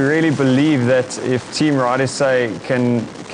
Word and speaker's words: Rhide: You'll see our ride is spelled differently to your normal ride.